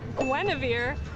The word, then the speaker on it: Guinevere: It's pronounced Gueneavir.